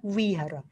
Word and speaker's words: vihara: Ervin itu sering digodain karena kalau kita bilang wihara gitu ya, itu kan tulisannya vihara, tapi kan bacanya wihara.